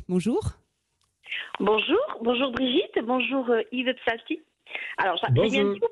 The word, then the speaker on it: Psalti: Alors, Pslati, il faut cracher un peu. Psalti, vous pensez juste le mot psalmodier. Ça vient de là, psalmodier, psalti.